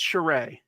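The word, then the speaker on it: Charest: wanted to mention I'm you could correct me on the pronunciation Travis shereé I'm pretty sure it's shereé so c h a r e s t and there's an artist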